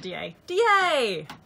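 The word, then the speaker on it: Deshaies: Looks like Deshaie, but apparently it's at DA.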